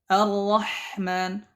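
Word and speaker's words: الرحمن: Yang pertama, ar-ra'ul maftuhah, nahu ar-rahman, ar-rahman. Ra yang dibaca tebal. Yang pertama adalah ra yang berharakat fathah.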